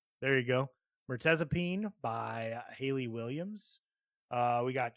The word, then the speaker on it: Mirtazapine: We got I don't know how to pronounce this. Can you help me out here, Tyler? Mirtazapine. There you go. Mertezapine by Haley Williams.